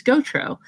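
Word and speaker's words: Gautreaux: of it because it's my last name is gotro and it's spelled g-a-u-t-r-e-a-u-x yes so if you're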